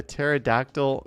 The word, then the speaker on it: pterodactyl: So why can't you hear a pterodactyl going to the bathroom? Why can't you hear a pterodactyl going to the bathroom? You got me. Because the P is silent.